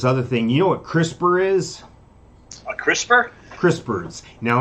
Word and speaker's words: CRISPR: talk about this other thing you know what crispr is a crispr crispers now let me spell it okay it's an acronym for something it's